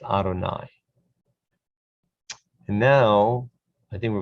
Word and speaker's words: Adonai: yud with a uh next to it is pronounced adonai and now i think we're going to move